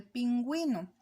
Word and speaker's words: pingüino: analicemos acá en el caso de pingüino usted nota que la uv lleva diéresis por lo tanto se pronuncia entonces si es válido un